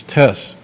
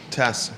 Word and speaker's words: Tess: give clearance to, and we learned the new correct pronunciation of Ditter's first name, it's Tess. Tess.